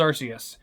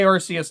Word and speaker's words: Arceus: It's an ARC phone, not an ARS phone. And it's the RKS system, not the ARS system.